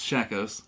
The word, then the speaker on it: Shakos: by a french company called i've just shackles shackles okay i just looked it up and everything to pronounce it because i don't want to mess